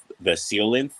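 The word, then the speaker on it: coelacanth: you're into marine biology look up the colon the seal length that's how it's actually pronounced it's a fish that was supposed to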